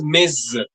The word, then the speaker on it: mes: possessive, that final S is Hmm. usually silent. unless Hmm. the next word starts with a vowel. If that happens, that final Okay. S sound is linked to the next vowel sound, and we pronounce it like a Z, Hmm. and it is pronounced as mez, mez, Nice.